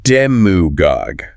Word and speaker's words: demagogue: And we'll start with demagogue pronounced demugog with the stress squarely on that first syllable.